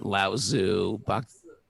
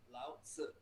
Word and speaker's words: Lao-tzu: No, it's not Laozu. Lao-tzu. That's how you say it. It's Chinese.